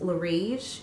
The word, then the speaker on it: Laurige: And the company, I think it's pronounced Laurige. It's L-A-U-R-I-G-E.